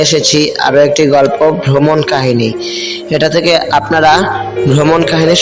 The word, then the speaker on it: Caux: কো শহর নয়, গ্রাম। ইংরেজি বানান CAUX। সুইজারল্যান্ডের অনেক জায়গায় বানান এমন, আগে থেকে জানা না থাকলে উচ্চারণ করে বোকা হতে হবে।